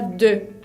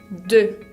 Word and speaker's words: deux: También otro ejemplo sería la palabra deux, que significa dos, deux. E con U suena E.